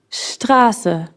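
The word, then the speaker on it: Straße: why we have teaser Strasse right something we haven't pointed out yet when placed before a P or T s is pronounced the Strasse the spicy Carter can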